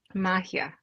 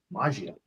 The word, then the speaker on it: Magia: name of your company Mahia Mahia coffee not been saying it correctly I've been saying it Italian so maio so I've not been saying it correctly at all anyway glad you're here